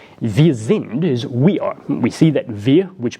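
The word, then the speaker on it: wir: are we see that Veer which begins with a W it's pronounced like a V but it begins with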